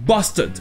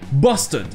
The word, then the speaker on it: bastard: Je disais qu'en anglais ça se prononçait « bastard », avec le premier A qui se prononce « O » et le R qui est muet, « bastard ».